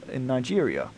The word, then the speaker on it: Niger: It's an African sauropod, particularly in Nigeria.